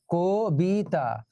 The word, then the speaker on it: কবিতা: এই যে কবিতা নিয়ে একটু আগে গান গাইলাম, এটা হলো ক, কিন্তু আমরা উচ্চারণ কি করি, কো, কবিতা।